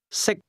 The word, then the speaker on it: 識: 識， The difference between the two is that can is spoken with a high level tone, and to eat is pronounced at a low level.